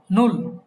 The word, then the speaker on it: null: English ছিল 0, সেটা হয়ে যাবে কি ডয়েচে নুল।